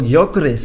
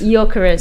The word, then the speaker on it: Gyökeres: I don't know how to pronounce it. Oh, Gyökeres. Gyökeres.